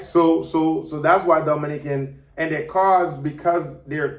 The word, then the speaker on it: Dominica: Yes, la República Dominica no es Dominica. Dominica is Dominica. That's how we pronounce it.